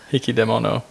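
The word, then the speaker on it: 引き出物: oh yeah hicky demo I was saying it wrong yeah there's no key after death hicky demono yeah H I guess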